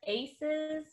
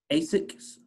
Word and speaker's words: ASICS: I'm not really sure how to pronounce it, but I think it's like Aces or... Asics? Yes. Asics? Okay.